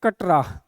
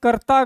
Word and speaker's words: करता: इसका नाम करता है, यहाँ देखिए KATRA, ये नहीं है, KARTA ये है। तो ये उच्चारण होते होते होते करता का क्या बन गया है? कटरा बन गया है, लेकिन एक्चुअल में क्या है? ये करता गांव है, ठीक है।